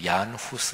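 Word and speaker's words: Jan Hus: 중심 광장에 가면 거기에 요한 홈스 또는 뭐 그 당시에 멀라 얀 후스 이렇게도 발음하는 데 유한 후 수에 동상이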